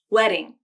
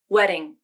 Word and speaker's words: wedding: The flap can take the place of a T or D when they occur between vowels, and the second vowel is in an unstressed syllable. This can happen within words like in automatic, wedding, and batter. I'll say these words again, both with the flap and without the flap. Listen to the difference in the T or D sounds.